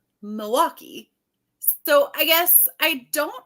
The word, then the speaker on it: Milwaukee: going on I'm like I don't emphasize the L like Milwaukee so I guess I